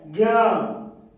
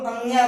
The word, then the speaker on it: ज्ञ: से आ रहा है, ज्ञ। कुछ लोग अंग्या बोलते हैं, अंग्या नहीं होता है, ज्ञ।